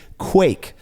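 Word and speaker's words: kveik: is to pronounce it Quake uh the Norwegian sound KV is pronounced very similar to The Q sound in English in Norwegian the sound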